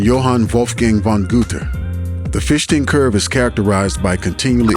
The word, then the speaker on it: Fichtean: Although online I see people pronouncing it Fichtean or Fichtean, because its namesake is German, I believe the correct pronunciation is Fichtean.